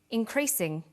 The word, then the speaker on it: increasing: formal academic language but when you come across longer words you have to learn which syllable to stress for example we say intelligent increasing and markedly notice that when you